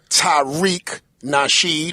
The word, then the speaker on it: Tariq Nasheed: back again another episode and the educated brother Tyreek nashed is that how you pronounce it that's it sir Tariq nashed I